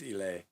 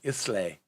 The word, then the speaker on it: Islay: there you go it's pronounced i know it's pronounced ele i like saying islay leave me alone nick um oh easily j